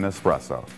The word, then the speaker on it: espresso: ire of a barista remember there's no X in espresso hey why not subscribe